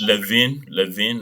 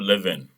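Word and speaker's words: Levene: Can you pronounce it Levin, not Leven?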